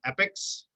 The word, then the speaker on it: epoch: is done in 302 epics that word looks like Epoch it is pronounced epic staging is very fluid